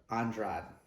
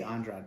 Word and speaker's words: Andrade: Valentina Shivchenko versus Jessica Andrade. They say Andrade, but we pronounce it Andrade in Spanish.